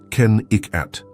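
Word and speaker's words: Kennecott: This was Kakott, pronounced Ken Iikat, a copper mining company town that boomed in the early 1900s.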